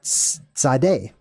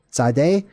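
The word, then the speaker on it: Tzade: which is kind of how the letter is pronounced Sade Sade or t z a d e mint side essentially or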